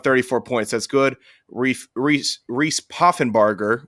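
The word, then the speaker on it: Poffenbarger: points that's good Reese puffenbarger which is how the play-by-play commentators pronounced it which I'm gonna take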